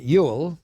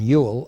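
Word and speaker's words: Whewell: of Victorian England William Ewell and anybody who wants to know how you can get a pronunciation Yule out of w-h-e-w-e-l-l must look into remote Celtic sources William Ewell and Alfred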